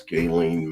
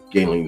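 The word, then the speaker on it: Ghislaine: as far as uh Gaelen Maxwell and I guess her name is Gaelen the correct pronunciation but anyway and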